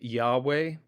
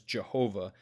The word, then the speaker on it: Yahweh: The most authentic pronunciation for which would be something like Yahweh. Over the years, certain Bible translations have misrepresented this form as Jehovah.